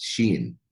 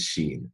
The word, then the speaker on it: Cheyne: her directly so and and I I've mispronounced her name initially but I'm gonna correct myself now so it's Sheen and that's Janey but it's Sheen and I apologize for that Sheen despite starting out as a shy computer programmer